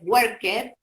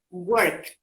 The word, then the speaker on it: worked: Generalmente lo pueden pronunciar de manera incorrecta, lo suelen pronunciar worked o working, ¿sí? Working. Eso está incorrecto, porque la pronunciación es worked, es con una T.